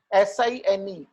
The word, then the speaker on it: sin: पहली रेशियो का नाम है साइन, ओके, SINE, लेकिन हम इसको कैसे लिखते हैं, SIN, स्मॉल में SIN followed by the name of the angle, okay, and we pronounce it as sin A.